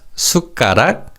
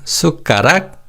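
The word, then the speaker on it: 숟가락: In terms of pronunciation in fast speech the pim in s and pim in ch are almost silent. So they're said as sukarak and char. So again, sukarak and charak.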